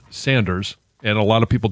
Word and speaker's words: Sanders: John, it's Sanders, not Saunders. Okay. Yeah. It's always been Saunders in my family. Yeah. I know it's spelled S-A-N.